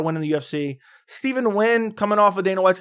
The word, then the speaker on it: Nguyen: I think it's Steven Nguyen.